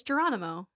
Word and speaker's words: Geronimo: Oh, it's Geronimo. But they pronounce it like an H because it's Geronimo Spanish.